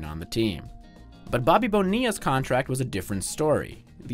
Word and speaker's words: Bonilla: Why do they pronounce it Bonilla? Is he Italian? No, actually, he's from New York, but the name has Spanish origins.